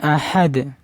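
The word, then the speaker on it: أحد: ওয়ালাম ইয়াকুল্লাহু কুফয়ান আহাদ আহাদ লাস্টে কলকলা করবেন উচ্চারণ হয়ে যাবে ওয়ালাম ইয়াকুল্লাহু কুফুয়ান আহ আহাদ ওয়ালাম ইয়াকুল্লাহু কুফুয়ান আহাদ।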